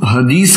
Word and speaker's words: हदीस: कुरान के बाद जो दूसरी चीज है उसको कुछ लोग हदीस कहते हैं, कुछ लोग हदीथ कहते हैं, क्योंकि भारत में उच्चारण थोड़ा सा अलग होता है।